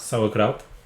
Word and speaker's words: Sauerkraut: How do you pronounce it? Sauerkraut. Sauerkraut.